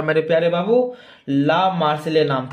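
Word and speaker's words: La Marseillaise: था मेरे प्यारे बाबू ला मार्सिले नाम था। क्या था? ला मासिले। अह मार्सिले ऐसे। हां, सही है।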